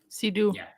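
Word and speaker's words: Léa Seydoux: something like that how's it spelled fragile s-e-y-d-o-u-x sedu that doesn't sound like a French name but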